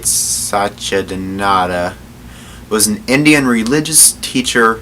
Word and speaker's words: Satchidananda: Swami, gotta pronounce his name right, Satchidananda, was an Indian religious teacher, spiritual master, and